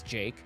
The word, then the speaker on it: JVKE: he he did his own thing and it's Jake this is the golden hour sb19 remix so